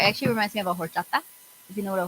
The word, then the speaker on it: horchata: It's a horchata. Okay, if you know what a horchata is, you know what a horchata is. If you don't, it is a HOR. The H is silent.